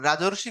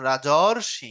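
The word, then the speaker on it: রাজর্ষি: না লিখবেন হচ্ছে ঋষি তখন উচ্চারণ যখন করতেছেন রাজরশি রাজরশি দেখেন একটা অরধনি হচ্ছে না অর হচ্ছে সমান সমান হল রাজরশী এখন এই কথাটা উপরে লিখছে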